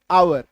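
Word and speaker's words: hour: एच ओ एन ओ यू आर ऑनर तो यहां पे आप देखिए आवर एच का उच्चारण नहीं है। एच अगर होता तो एच का अपना मूल उच्चारण क्या है? ह तो इसको हवर बोल देते लेकिन नहीं आवर बोलते हैं।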